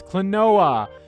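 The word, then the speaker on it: Klonoa: um oh cool yeah kaluna all right clinoa clanoa that's how you pronounce it it's clinoa that's actually coming out in on July 22nd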